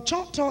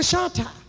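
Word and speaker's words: Chahta: Well, Choctaw is a mispronunciation for Shatta. So when I tell people I'm a Shatta, they say, well, where you come from? That is the proper terminology.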